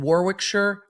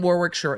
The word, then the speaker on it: Warwickshire: mother grew up in Warwickshire I hope I pronounced that properly um I don't think you say Shire I think it's sure you'll let me know I'm sure in the comments in Warwickshire England her family having